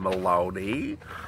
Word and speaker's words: Maloney: You remember Carolyn Maloney? Rhymes with baloney.